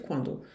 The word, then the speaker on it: quand: interrogativa que vai ser quando. On part quand? Quando que a gente parte? Quando que a gente vai embora? On part quand? Vocês veem que aqui o T do par não se pronuncia, o D do quand não se pronuncia.